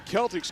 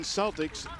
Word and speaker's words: Celtics: anything about Dublin Jerome, even though it looks like Boston Celtics, they pronounce it Celtics, which if you go back to the dictionary in the old version of how it's supposed to be pronounced, indeed, that C is a hard K sound and is pronounced Celtics.